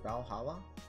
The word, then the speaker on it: VA-11 HALL-A: Hey guys, we're back with Valhalla. It's okay to be pronouncing it like that, right? I don't have to say Va-11 Paul A Cyberpunk Bartender Action, right?